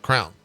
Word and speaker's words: crayon: It's a crown. Everyone says that in Texas. It's how you say it.